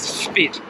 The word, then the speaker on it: Spit Bridge: move spit bridge i feel like i've got to say that a few times just in case my foreign friends think that i'm mispronouncing it no it is spit s-p-i-t bridge bad name great